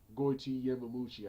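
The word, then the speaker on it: Goiti Yamauchi: this show, and that was Ryan Couture versus Gotti Yamamuchi. Goiti Yamamuchi, I think that's his name.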